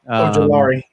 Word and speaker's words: Ojulari: I don't even know how to pronounce his last name. Ojulari.